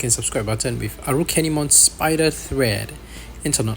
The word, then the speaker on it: Arukenimon: version of its name so if you pronounce it the Japanese way it should come out as arukenimon which is how they